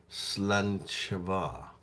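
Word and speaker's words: Sláinte mhath: I mean, pronounced Slanchava.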